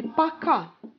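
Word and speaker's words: пока: bye bye in russian it will be pakka so the stress goes to the second syllable so actually we also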